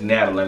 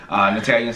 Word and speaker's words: Natalie: One of the things that my ex co-host, Natalia, and that is not her name, it's Natalie, let me say it correctly. Natalia said is that I